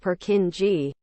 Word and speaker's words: Purkinje: the cerebellum is known as a Purkinje, commonly pronounced Purkinje, cell.